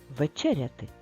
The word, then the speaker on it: вечеряти: в ч ряд т вечеряти скільки складів чотири склади де стоїть наголос вечеряти так наголос в другому складі а тепер розіб'ємо на